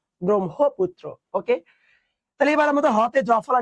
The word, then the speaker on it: ব্রহ্মপুত্র: উচ্চারণ কি জান ব্রাহ্মণবাড়িয়া তোমরা যারা ব্রহ্মপুত্র বল এটাও ভুল বল কেন ওখানে এই এই বর্ণটা এই যুক্ত বর্ণটা থাকে সেটা হবে ব্রহ্মপুত্র কি হবে বলতো ব্রহ্মপুত্র ওকে তাহলে এবার হতে